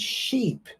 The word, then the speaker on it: sheep: big boat isn't it now remember ship the pronunciation would be like hit and sheep would be like heat it's the same sound okay now let's go